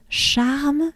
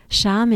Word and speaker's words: Charme: It's called Charme sur Rhône. Charme is, it's charms, but in a way, charming, right? But it's pronounced charme.